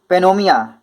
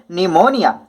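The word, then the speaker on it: pneumonia: सी इज पेनोमिया, अरे भैया पेनोमिया नहीं है भैया, पी साइलेंट रहेगा बच्चों इसमें, और इसे पढ़ेंगे निमोनिया।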